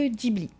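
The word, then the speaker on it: Ghibli: Nagoya, il y a le parc Dibli ou Gibli hein, ce comme vous voulez en fait, les deux se disent Gibli est une origine est un mot d'origine italienne qui se prononcerait gibli. Les Japonais le prononcent plutôt gibli.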